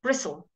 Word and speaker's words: bristle: very very awkward and English people want to speak faster so we don't say the T bristle the brush has many